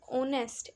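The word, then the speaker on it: honest: एच से शुरू हो अब हम इसको हावर नहीं बोलेंगे साइलेंट है इसमें एच क्या बोलेंगे हम इसको आर एन आर एन ऑनेस्ट एन ओटेल ओटल ठीक है ह यानी एच साइलेंट है इसमें ये थे एन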